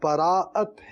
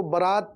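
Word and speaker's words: براءت: شب براعت۔ شب براعت، اب یہ براعت ہے، اس کو برات بھی بولتے ہیں، وہ کچھ بولتے ہیں،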